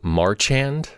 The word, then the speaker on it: Marchand: and Nancy Lou Marchand, I think is how you say her name, who plays Tony Soprano's mother.